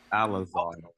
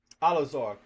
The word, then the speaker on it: Eleazar: Eleazar, I can't pronounce it right now. When those when those elders fell asleep, Alazar. Say it again. Alazar. Alazar.